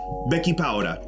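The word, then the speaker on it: Bechipaura: four teaspoons of um b-e-c-h-i-p-a-u-r-a pronounced becky powder i was laughing so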